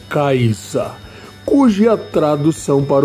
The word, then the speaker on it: Kaiser: provaremos hoje a Kaiser Kaiser que em alemão se pronuncia kaisa cuja tradução para o